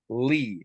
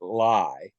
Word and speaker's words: Ly: And her name was Sherry Lee, spelled Ly. And not only was she fine with people fucking it up and pronouncing it lie, she started introducing herself that way.